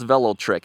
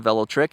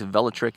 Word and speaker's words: Velotric: a very nice bike now how do you pronounce Velo trick it's not Velo trick it's velotrick if you say it quickly individually you can call it Velo trick but they tell me if valatrick is typically how it's said there's a couple